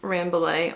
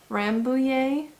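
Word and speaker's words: Rambouillet: what you basically get if you've ever used um ramblay or rambu yay if you prefer the french pronunciation um it's basically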